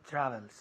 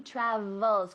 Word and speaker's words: travels: Con la V, ¿cómo lo hacemos? Con los dientes encima del labio inferior.